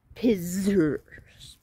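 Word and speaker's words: Piszers: And it's spelled P-I-S-Z-E-R-S. Yes. So it would go Pisser's Palace.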